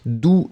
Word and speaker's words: doux: So in that case, you've got the masculine form, doux, D-O-U-X, and then feminine form would be douce. Remember, for the masculine form, you don't pronounce the final X, d'accord?